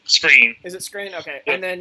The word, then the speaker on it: Skrine: I'm not sure how you pronounce his name. It's Screen.